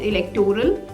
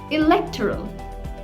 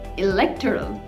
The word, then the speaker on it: electoral: pronounced as electoral but this word is not electoral rather it's pronounced as electoral electoral so let's look at the meaning of this